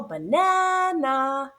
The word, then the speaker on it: banana: So our loud and clear stressed syllables in the middle, banana. The first and third syllable are unstressed, which is why we hear the A representing the sound.